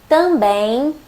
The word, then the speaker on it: também: But when M is at the end of a syllable or a word, it changes. It doesn't sound like M anymore. It nasalizes the vowel before it. Bom, com, sim, também, homem. You don't really pronounce the M. You just nasalize the vowel.